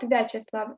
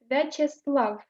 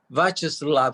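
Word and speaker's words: Вячеслав: names that end in Slav, you stress this syllable. Vyacheslav, Bavad. Vladislav. Slav is stressed. Which one is it? The last syllable Slav is usually stressed. It's not Vyacheslav, it's Vyacheslav.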